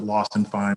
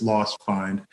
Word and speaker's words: Lost Find: that's hard to pronounce everybody calls it lost and fine but it's lost find and that's more of